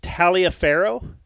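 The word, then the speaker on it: Taliaferro: Um, and it taught me a lot of things like there was a man, is his name George Talia Pharaoh?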